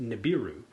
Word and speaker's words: Nibiru: two things 1i believe it's actually pronounced Nibiru the tenth planet the